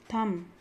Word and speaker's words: thumb: not plumber it's plumber tom thumb these are the words where b is silent third is c abscess